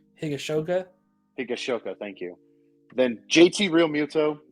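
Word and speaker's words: Higashioka: Catchers, we've got I'm gonna try to pronounce this name. Kyle Higashoka. Higashoka, thank you.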